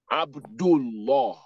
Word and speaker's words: Abdullah: So anytime fatha or dhamma is coming before Ismu Jalala, anytime fatha or dhamma is coming before Ismu Jalala, so the lam at the middle is going to be pronounced law, law, law, Allah. Abdullah, because Doma is coming before it like that.